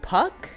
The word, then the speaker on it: PVKK: The first game shown, well, the first game I took notes on was Puck, but it's spelled with a V instead of a U. It's PVKK.